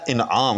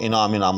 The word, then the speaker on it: انعام: نے غور کیا تو اصل لفظ ہے انعام، یاد رکھیے گا افعال کے وزن پر، لیکن میں نے بھی اس کو سنا ہے احباب کے منہ سے کہ انعام اس کو کہتے ہیں فعال کے وزن پر، تو اس کو نوٹ کر لیں، انعام یعنی افعال کے وزن پر ہے، نہ کہ انعام فعال